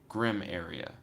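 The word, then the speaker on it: Grim-aria: So I can't tell if I'm supposed to say grim area or Grimmaria. And then Matt said they are pronunciations. So do I say Grimmaria or Grim area as like almost 2 separate words? And then you said the first one, so Grim area.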